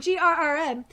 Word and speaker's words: GRM: But they were, it's pronounced GRM, Grrm, and this is what Thor said, an acronym for God Rapid Response Mobilization.